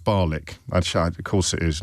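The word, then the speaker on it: Barnoldswick: I It's pronounced Barlick. I of course it is not Barnoldwick.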